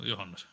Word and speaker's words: Johannes: Oh, Johannes. Okay, so it is. It is like a Y, not a Yeah, J.